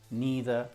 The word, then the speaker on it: neither: Neither and neither.